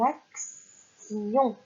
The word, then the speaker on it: action: Et donc, ça va devenir une action. Et nous allons rajouter comme syllabe le I-O-N.